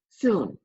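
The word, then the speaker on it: cun: it's called it's spelled Cu end but it's pronounced soon and won-soon is the top of your thumb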